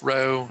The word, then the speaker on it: rho: It's, you know, pronounced row.